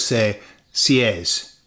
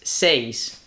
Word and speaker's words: seis: And we lots of us say s. And it's not. No. The the e is pronounced e and the i is pronounced e. Therefore is says.